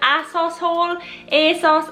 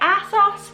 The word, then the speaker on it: ASOS: going to be doing an a sauce a sauce I'm not sure which is the correct way to pronounce it but I say a sauce so today we're gonna